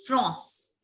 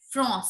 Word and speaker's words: France: In French language, France is pronounced as France. France.